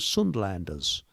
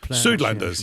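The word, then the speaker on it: Suidlanders: I I agree with you and there's a place in South Africa I think they're called Sundlanders. I may have got that. Sudanders.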